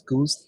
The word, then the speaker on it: GOOS: to be W or those two flags are pronounced as goose and uh gork and then you build the same uh main.